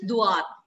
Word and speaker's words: doigt: Fingers is doigt. G is silent, D-O-I-G-T-S.